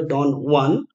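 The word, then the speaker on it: Don Juan: Lord Byron এর বিখ্যাত ডন ওয়ান ইট is satirical epic poem based অন Spanish ফক legend so এটা Spanish name তাই এটার উচ্চারণ হবে ডন ওয়ান এন্ড একটা ইম্পর্টেন্ট পয়েন্ট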